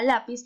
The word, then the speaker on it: lápiz: Lápiz, lápiz. ¿En dónde se encuentra la mayor? En la. Es decir, que la sería ¿qué? La sílaba tónica.